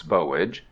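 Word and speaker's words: Boulge: to plant by the grave of bowage please pronounce bowage a rose tree that had been raised from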